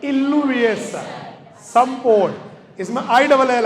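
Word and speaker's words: illuviation: direct भी कह सकते इसको आप जोन ऑफ इलविएशन या जोन ऑफ लीचिंग भी कह सकते हो नहीं b2 में जमा हो गया ना इसको बोलेंगे जोन ऑफ जमा जमावड़ा जमावड़े को बोलते हैं इलविएशन सपोट इसमें आई डबल एल आएगा स्पेलिंग में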